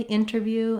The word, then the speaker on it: interview: So if you think about, rather than inter, think about the word inner. That's going to help you have that correct pronunciation. I've put it in the IPA here as an option because you can say interview and internet, and I would say native speakers use a mix.